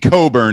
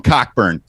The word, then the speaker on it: Cockburn: from uh illinois uh kofi coburn is his name i don't want to mispronounce that i usually call him cockburn want to get that